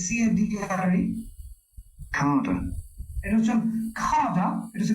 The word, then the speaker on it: cadre: হ্যাঁ, দেখেন উচ্চারণটা CADRE, Carder.